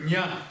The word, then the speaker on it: ཉ: Назализированный. То есть это низкий, назализированный, он произносится ня.